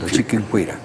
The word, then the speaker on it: Chiquinquirá: Chiquinquirá. Él sí puede pronunciar bien. Así decía Juan Pablo II, Chiquinquirá.